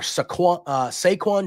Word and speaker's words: Saquon: I think it's Saquon. It's spelled like Saquon Barkley, so I'm calling him Saquon.